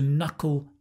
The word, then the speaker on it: knuckle: Now, a nice little phrasal verb here is to knuckle down. To knuckle down. Hard to pronounce, I know. No, fun to pronounce. Knuckle, cull. It's the dark L, knuckle, to knuckle down.